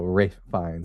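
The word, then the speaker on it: Ralph Fiennes: Someone tell me it's Ralph, but it's pronounced as Rafe. So, Rafe Vines. Oh, Rafe Vines.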